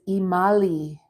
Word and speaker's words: Imali: that because it doesn't you pronounce it but it's spelled imali ew shingles uh oh